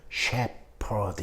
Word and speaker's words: shepherd: 어떨 때는 이 PH 발음이 또 그냥 P로 나요. 그러니까 목동, 양을 기르는 남자 목동을 shepherd 이러거든요. shepherd. 이때 P는 shepherd가 아니라 shepherd입니다.